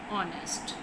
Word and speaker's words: honest: Unit 6 है बी ऑनेस्ट। बी ऑनेस्ट, इसमें H silent है, एच की साउंड इसमें नहीं होगी इस वर्ड में।